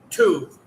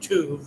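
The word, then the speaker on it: טוב: opportunity, let us do tuv, Tuv, but it's probably pronounced like I would say like not necessarily tuv, but uh, uh, more like tuv, almost something like that.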